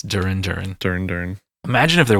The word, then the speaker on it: Duran Duran: a good one so my my band uhuh Duren Duran dur are you hungry is right yes it's Duran Duran dur dur imagine if there was a band